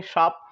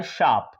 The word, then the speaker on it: शाप: बहुत सारे लोग लिखते हैं श्राप। सही क्या होता है आपका? तो सही होता है शाप।